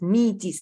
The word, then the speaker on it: Metis: is me in meetings so that's why it's meaties that's how it is pronounced yeah this is after the name of